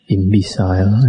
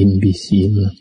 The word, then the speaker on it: imbecile: The last talk I mentioned, I read imbecile. Actually, it should be imbecile.